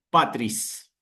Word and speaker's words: patris: Eh, Bueno, hasta aquí tenemos entonces in nomine patris. ¿Sí? Ven que, por ejemplo, en este caso también la A no tiene ninguna variación en la pronunciación. Patris es simplemente una A.